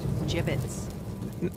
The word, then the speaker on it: gibbets: left over gibbets what it's pronounced jibbets are you sure yeah